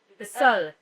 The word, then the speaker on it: Les Seules: Well, zeleNa, how do you pronounce the name? Les Seules.